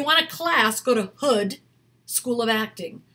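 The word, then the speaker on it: Houde: a class go to Hood School of acting not hoodie like a hood but h-o-u-d-e h-o-u -d-e Hood School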